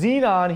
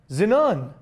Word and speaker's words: xenon: Hood which is the correct one Xenon is pronounced Xenon here whereas it's actually pronounced zenun damn I feel so damn country okay Cal